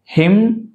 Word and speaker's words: hymn: And these all the words n is silent. ఇది m, mnemonic. ఇక్కడ మళ్ళీ ఇక్కడ నుండి n, hymn, solemn, dam, autumn, column.